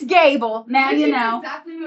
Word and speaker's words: Gable: It's pronounced Gable. Uh, a lot of people try to say.